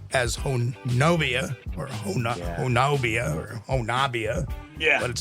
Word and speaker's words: Honobia: You may see it as Honobia or Honobia or Honabia. Yeah. But it's actually pronounced by locals as Honabi.